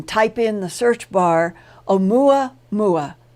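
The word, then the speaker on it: ʻOumuamua: in the search bar Oh mwah mwah Hawaiian it is spelled oh um you am ua and you will find some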